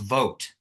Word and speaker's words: Vogt: him please welcome Voit CEO founder fraud protection Institute am I saying your last name correct Voit it it's actually pronounced vote vote okay V you know